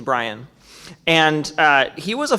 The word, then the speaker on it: Bryan: of William Jennings Bryant I have to not say it like a drunk guy it's William Jennings briyan and uh he was